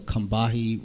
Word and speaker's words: Combahee: It's called the Combahee River Statement. I'm pronouncing this correctly.